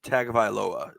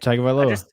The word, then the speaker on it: Tagovailoa: Tua Tagovailoa. Tagovailoa. Yeah. So I was saying it right. Okay. Tagovailoa.